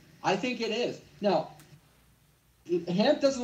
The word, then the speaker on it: Hamp: Is his name pronounced hemp like the leaf or is it hamp like hamper?